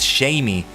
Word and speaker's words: Shaymin: take a look at shaming since you mentioned that or maybe it's shining in Japanese it's shamey oh no it's Shaman yet shamey Shaymin but yeah uh let's see